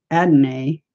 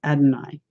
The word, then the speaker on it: Adonai: So those of you out there pronouncing it Adonai, you're incorrect. His name is Adonai.